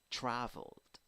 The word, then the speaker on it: traveled: Traveled, traveled, traveled. But look at how you are pronouncing the ending ed. Ld. Ed is sounding just like d here.